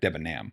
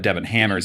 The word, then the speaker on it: Debenham: And I used your family name in the correct pronunciation, correct? Debenham. Pretty much. There's a lot of Devon hammers out A lot here.